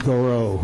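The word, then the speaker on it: Gouraud: And this is pronounced Garot, right? It's something called Garot shading.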